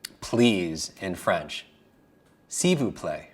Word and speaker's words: s'il vous plaît: S'il vous plaît. For me, that sounds like a word substitution for s'il vous plaît would be a silver plate. So just attach silver plate with please, right?